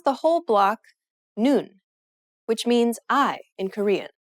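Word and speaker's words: 눈: you read the block the bottom letter is the n sound just like the top letter combining these with the vowel in the middle you pronounce the whole block noon which means i in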